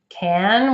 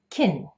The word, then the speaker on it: can: with the word can one thing you need to know is that the vowel sounds will change from A to E so it will become can will become tinny in a sentence see if you can hear it as chin in the following example are you ready I